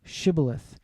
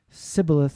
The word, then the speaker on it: Shibboleth: Say now Shibboleth. But he said Sibboleth, for he could not pronounce it correctly.